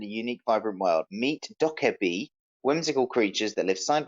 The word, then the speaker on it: Dokev: Yeah, I think you pronounce it Dokev actually. Right, Dokev. Right. Wondering how to pronounce Dokev? Read it as Dokev.